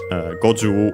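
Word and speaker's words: 五十: But yeah, go-ju is one of those on the ju.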